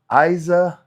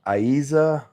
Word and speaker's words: Isa: Uh first pronunciation is correct. So Isa just just type yes.